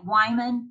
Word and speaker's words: Wyman: and you can see lake boca raton like wyman like wine is a little out